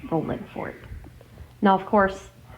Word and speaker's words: Rolling Fork: Now, of course, it's spelled with the G at the end, but I do not say it that way because that's not how they say it. So, I'm not going to say it with the ing cuz that's not how they do it anyway.